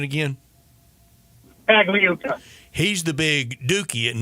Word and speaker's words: Pagliuca: Now, his partner that didn't get the team, help me with the pronunciation again. Pagliuca.